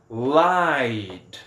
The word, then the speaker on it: lied: No passado ele já tem o E, então vou colocar só o D, e aí a pronúncia fica lied.